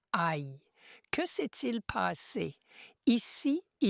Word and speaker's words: Aï: Ils sont vaincus à Aï. La ville s'écrit A mais se prononce Aï.